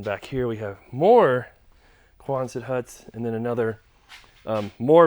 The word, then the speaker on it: Quonset: So some people asked me before what I was saying, because I was saying it too fast, and I know sometimes I talk a little fast and don't pronounce things right. But a Quonset hut, Quonset.